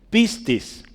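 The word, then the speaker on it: πίστις: si se acuerda en griego arriba y su pronunciación abajo sí piscis sí piscis esta palabra Es bien interesante porque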